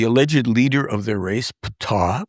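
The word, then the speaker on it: Ptaah: leader of their race, Ptah, pronounced p t a a h, like sounds like the uh ancient god of Egypt, Ptah.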